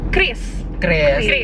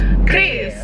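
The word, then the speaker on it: QRIS: paling benar cara bacanya Kris perlu dicari ya guys jadi cara yang benar bacanya adalah Chris jadi penting sih buat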